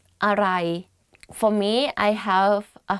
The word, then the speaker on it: อร่อย: So, อร่อย อร่อย อร่อยAnd you say it faster, aroi. But don't confuse this word to what, which is arai.